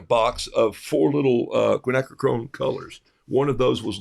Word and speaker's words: quinacridone: tennessee it looks like quiche to me okay quinacridone quinacridone gold equine acronym quinacridone gold um daniel